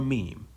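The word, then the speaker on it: ميم: So simply, you just let the two lips come in complete contact without pressing. You don't have to press. You just say M or meem.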